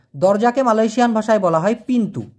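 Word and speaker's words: pintu: দরজাকে Malaysian ভাষায় বলা হয় পিন্তু। পি আই এন টি ইউ। এই টি টাকে মালয়েশিয়ান ভাষায় সবসময় ত উচ্চারণ করা হয়। ট নাই। ট উচ্চারণ করা হয় না। এইজন্য পিন্তু হবে।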